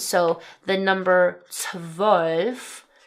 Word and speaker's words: zwölf: So the number 'zwölf' (12) has the umlauted ö and then the number 'fünf' (5) has the umlauted ü. So it's 'zwölf' and 'fünf' And then